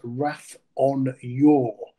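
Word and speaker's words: Rath an Iúir: So I went to listen to some previous commentaries and our radio colleague Deyrann Owen pronounced the horses Rath on Iuir. I'm going with Deyrann because he's a professional, not a chance.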